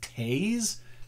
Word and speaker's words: Toews: It looks like Jonathan Toews, T-O-E-W-S, but I believe it's pronounced Taze.